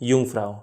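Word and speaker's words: Jungfrau: हां यूंगफ्राऊ था यंगफ्रा अच्छा वहां तो जर्मन बोली जाती है। यस तो जे को या बोलते हैं यूंगफ्राव हां जैसे कार्ल कार्ल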